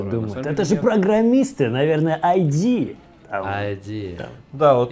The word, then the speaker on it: id: И я думаю, Bethesda и ID будут делать вот что-то вроде такого же. Кстати, сразу здесь надо рассказать людям, что название этой компании произносится ID.